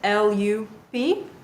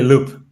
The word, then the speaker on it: Loop: so another Colombian startups l p if I'm pronouncing that correctly let's welcome them on stage hi everyone how are you it's actually loop loop perfect I love how that sounds and I am very